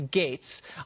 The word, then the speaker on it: Gaetz: It's G-A-E-T-Z. It's pronounced Gates, but no one knows how to say that. I'll tell them it's Gates.